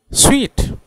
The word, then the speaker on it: suite: उसका प्रोनाउंसिएशन है स्वीट, स्वीट, स्वीट।